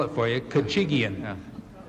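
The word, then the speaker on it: Khachigian: spell it for you kachigian you say it like you sneeze kachigian I'm sorry I don't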